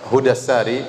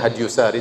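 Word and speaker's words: Hadyu as-Sari: Saya nukilkan dari kitab Hudassari. Sebagian orang bacanya Hadyusari, tetapi yang benar Hudassari, sebagaimana ditashkil, diberi harokat langsung oleh Ibnu Hajar rahimahullah, penulis buku.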